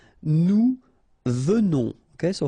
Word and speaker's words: venons: Nous venons. Okay, so final S not pronounced, and then remember that you pronounce this like a the. Venons. Okay, O-N in your nose, on.